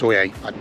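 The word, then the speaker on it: Sóller: So we're going to weigh anchor and get on down to Soyer. Soyer is spelt Solar, S-O-L-L-E-R, but I think it's pronounced Soyer.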